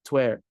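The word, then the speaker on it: tuer: You are or thou art is pronounced exactly like twer the verb to kill and to the imperative kill.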